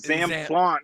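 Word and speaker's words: Zamplante: That was Zam Plant. No, Josh, it's Zam Plant. Plant. Yeah, say it like a French person.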